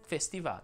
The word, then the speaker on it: festival: e quindi certamente chiusa si dice festival o festival si può dire in entrambi i modi ma l'accademia della crusca suggerisce festival imbalsama o imbalsama garzanti